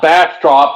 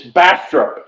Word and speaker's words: Bastrop: again and I said it's not Bastrop it's Bastrop you just say it real fast Bastrop Bastrop I know